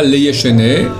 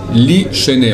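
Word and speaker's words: לישני: Li Shene, pas Leye Shene, Li Shene on prononce.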